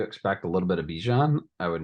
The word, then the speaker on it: Bijan: a little bit of Bijan I would not be shocked or Bajan as he uh recently came out and said that everyone including himself has been saying his name wrong I don't know if